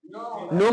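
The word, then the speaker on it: know: हम कनो पढ़ेंगे की इसको क्या बोलते हैं नो बोलते हैं अरेन सही में बोने लगा के जो है ना उच्चारण में नहीं आता है ठीक तो नो हो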